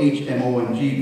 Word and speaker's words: Hmong: The CIA in Southeast Asia training local primitive people called the Hmong, spelled H-M-O-N-G, but pronounced Hmong.